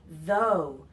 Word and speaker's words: though: quick note about pronunciation the GH is silent so we say though we don't pronounce the GH at all all right so when